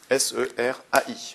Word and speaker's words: serai: Je serai, donc SERAI, je serai absent, ça se prononce E la semaine prochaine.